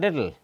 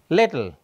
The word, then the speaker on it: little: here so I said little little I don't pronounce this e and so this second